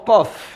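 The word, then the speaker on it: ق: Begitu juga dengan huruf qaf dalam surah Qaf, ya. Dibaca dengan hurufnya. Qaf. Huruf qaf. Cara bacanya seperti ini. Qaf. 6 harokat sama.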